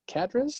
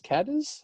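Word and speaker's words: Cádiz: born in Spain hris right had is yes cadis cadis cadis c a d i z didn't pronounce properly say Massachusetts go ahead Massachusetts nope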